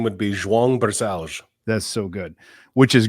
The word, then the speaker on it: Barcellos: it sound uh my full name would be Jang Bal that's so good which is great the reason